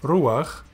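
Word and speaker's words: רוּחַ: And you pronounce the patach before the letter it is under, ach. Here are two examples. Reish, shurek, patach furtivum, chet, ruach, and it means spirit.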